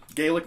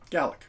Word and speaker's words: Gaelic: very simple little Old Gaelic melody gallic depending on where you're from and how you want to pronounce that and but it's been